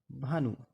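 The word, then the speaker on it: Bhanu: एच ए एन यू भानु बी एच ए बी एन ए भावना बी के बाद एच आए तो भा बनता है इसके यह उदाहरण है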